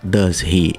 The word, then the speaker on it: does he: Só que ele não fala does he, ele pronuncia does he. Ele corta o H do he, o som do does tem um Z no final, então fica does he.